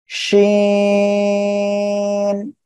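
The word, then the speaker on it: شين: শা শা শব্দ করে এই অক্ষরটি উচ্চারণ হবে, শিন।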